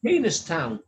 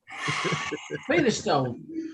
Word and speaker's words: Penistone: If we're going to go on how it's spelt, it's Peanistown. Penistone.